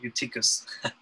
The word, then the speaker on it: Eutychus: Sometimes when I see the EU, it's hard to not pronounce it as an EV, because that's what it is in Greek, but Eutychus, who was sinking into a deep sleep.